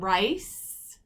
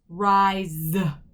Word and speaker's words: rise: a crazy thing sophia sometimes it makes more like a z sound so this word is not rice it's rise like a z sound